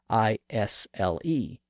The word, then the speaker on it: isle: the Latin word insula the s sound in insula had been lost in French and produced the word is which still retained a silent s in the spelling well many English writers